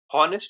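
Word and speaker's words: honest: क्योंकि बोलते समय ऑनेस्ट नहीं बोल रहे। ऑनेस्ट बोल रहे हो। ऑनेस्ट का स्टार्टिंग ओ से हो रहा है।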